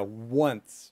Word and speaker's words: once: Both words, they have a w sound, a w sound at the beginning. So, you know, at the beginning of a story, maybe in Game of Thrones, the very first one, they would say, once upon a time. Yeah, once. Once again, w. You want to get that w sound. So we say one.